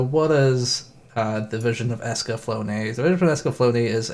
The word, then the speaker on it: Escaflowne: covering the vision of escaflowne which I spent the past decade just calling it the vision of escaflowne I didn't know you pronounce the e or figured you didn't